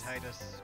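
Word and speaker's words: Tidus: I always go with default names, and I'm pronouncing it Titus. Alrighty. Like the comedian Christopher Titus.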